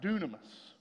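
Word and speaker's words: dynamis: Everybody say dunamis. Now, a lot of people, you've heard that word before. It's spelt really weird, but it's pronounced totally different.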